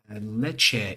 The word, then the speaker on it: Lecce: Keith said it's Lecce, Italy, which is spelled Lecce.